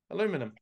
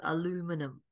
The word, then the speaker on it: aluminum: going to call it correct it is actually aluminum I think that makes sense though like I know we call it aluminium but the the U is pronounced like a u so aluminum yeah yeah yeah that's why the guy that